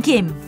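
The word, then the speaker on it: 김: I am Kim from Go Korea Laver pronounced Kim and Korean is rich in vitamins and minerals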